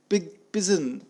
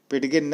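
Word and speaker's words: pidgin: इसका प्रोनाउंसिएशन है, पिडगिन न बोलें, पिजन है।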